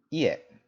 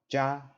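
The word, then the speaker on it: 家: right here means home in Japanese it's pronounced yeah or Buchi right it's off in Chinese it's gonna be pronounced JA so did you catch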